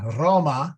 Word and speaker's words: Roma: varicana the Vatican right in Roma with a long a best so um and